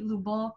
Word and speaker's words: Lobo: my friends find out lobo depending on how you pronounce it can also be lubo or lubong which is mud or earth or the globe my middle name is